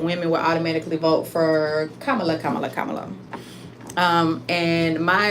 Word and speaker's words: Kamala: I've I have heard a lot of people mispronounce her name and say Camala Camala whatever whatever her name is Kamala Kamala Kamala everybody doesn't know how you know